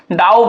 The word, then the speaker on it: dough: DOUGH, इसको हम लोग क्या पढ़ते हैं डाउ पढ़ते हैं। एक्चुअली में देखिए इसमें से G भी साइलेंट होता है, H भी साइलेंट होता है और GH भी साइलेंट होता है, लेकिन मोस्ट प्रोबेबली मैक्सिमम टाइम आपको क्या करना है G को साइलेंट लेना है, ठीक है।